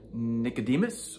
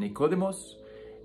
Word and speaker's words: Nicodemus: Friday and of course on pasca along with Nicodemus or if you prefer the pronunciation nicodemos and also Joseph of arthea I just heard